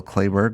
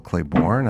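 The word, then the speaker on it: Clayburgh: 70s yep and maybe I always thought Jill clayberg was Jill Clayborn I just mispronounce it the whole time wow this revelatory well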